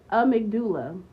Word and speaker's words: amygdala: Amygdala.